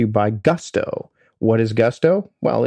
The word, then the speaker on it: Gusto: What is Gusto? Well, it rhymes with musto or rusto, as in let's do it once more with Gusto.